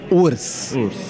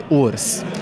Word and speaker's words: WRS: It's Urs. Urs, yeah. Okay. In Romanian, it means bear, like bear. The animal. Okay. Yeah, and it's Urs.